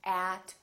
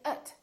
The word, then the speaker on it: at: and they sound like So we don't say at, we say ut.